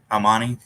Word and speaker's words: Armani: Armani?